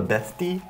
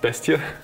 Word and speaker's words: Bestie: I love how in German it's called a bestie. Yeah, it's a your bestie. It's actually pronounced bestia.